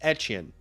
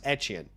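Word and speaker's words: Etienne: And uh yeah, you know, I was talking to Sammy about this whole Travis Achan thing and uh he believes that it's pronounced etchen. Travis etchin.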